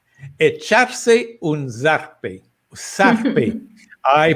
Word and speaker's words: zarpe: Zarpe. I pronounced it wrong, right? Yes. Z is pronounced S in Costa Rica, ¿verdad? Z it's pronounced as an S. So, S. echarse un zarpe.